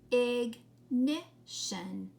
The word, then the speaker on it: ignition: Okay, and this time, even though the vowel comes right before the shun, it says it's short sound. It sounds like this. Ignition. Ignition. How many syllables? Ignition. 3 syllables.